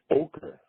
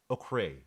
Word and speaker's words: ochre: pass is this please stop butchering the word it's ochre ochre like Joker without the J ochre it represents Earth